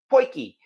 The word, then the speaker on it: poiki: saw my videos, and they all pointed out that that's actually how they pronounce it. Poiki. Think of it as poi ki, a poiki pot.